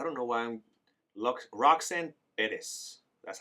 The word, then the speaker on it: Perez: I don't know why I'm Roxanne Perez.